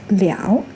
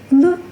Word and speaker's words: 了: Its pronunciation also weakened from liao to le with the neutral tone.